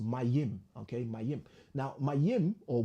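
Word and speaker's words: מים: And it's pronounced Mayim.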